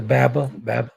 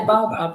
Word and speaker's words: baobab: How do you pronounce it again? The baba? The baobab? Yeah, the baobab.